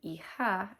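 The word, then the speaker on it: hija: Io is son and eha is daughter. That's h i j o because the h is silent and the j makes a h sound.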